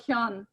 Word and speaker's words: Hyun: You know Hyundai car? Hyundai car? It's like Hyun. Like Hyundai, yeah.